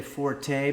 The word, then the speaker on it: forte: Uh, now as a lot of you know, gaming is not my fort or some people say forte, but I think that it's a French word, so it would be pronounced for fort.